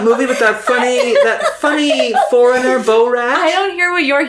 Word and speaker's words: Borat: How do you pronounce the movie B-O-R-A-T? B-O-R, Borat.